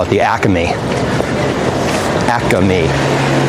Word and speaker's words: Acme: Acme, like 3 syllables.